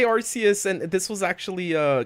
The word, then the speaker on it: Arceus: yeah argues okay i i say arceus i i say rcs and this was actually